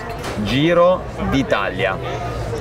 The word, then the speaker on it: Giro d'Italia: Can you pronounce Giro d'Italia for us so we got it? Giro d'Italia.